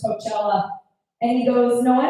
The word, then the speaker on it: Coachella: I was like, oh babe, I don't mean to correct you, but it's actually pronounced Coachella.